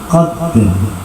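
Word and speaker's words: قدر: anzalnahu fi lailatul qadr, kan harus ada o-nya harus nampak. Kalau menghilangkan huruf yang sukun setelah qalah sukun, huruf berikutnya harus ikut sukun. Maka ini jika tidak terucapkan, meskipun hanya sekedar pelan, qadr.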